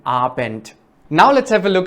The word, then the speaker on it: Abend: Also in the end of Abend, it's ta. Guten Abend.